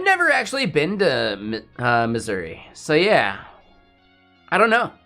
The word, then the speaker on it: Missouri: really funny to me Missoura right I can pronounce it like a local right like the locals that like living there Missoura it's Misery come on I've never actually been to uh Missouri so yeah I don't